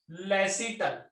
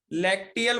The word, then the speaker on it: lacteal: ठीक है, अब ध्यान देंगे बेटा, उसको बोलेंगे, इसको इसको लेसिटल। क्या बोलेंगे? LACTEAL होगा बेटा, सॉरी LACTEAL, लैक्टियल बोला जाता है वैसे इसको। ठीक है, लेसिटल भी प्रोनाउंस किया जाता है।